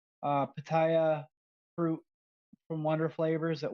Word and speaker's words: Pitaya: Pitaya?